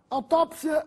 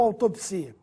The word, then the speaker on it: autópsia: preferencial acrobata sem assento autópsia ou autopsia aqui o assento cai bem Quando dita a autópsia apesar das tuas formas estarem corretas prefiro utilizar a forma com acento autópsia biópsia ou biopsia significam